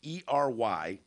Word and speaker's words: erysipelas: Erysipelas. Okay, I got it. Erysypallis. Erysipelas. You're out. You don't share in the prize. It's actually Erysipelas.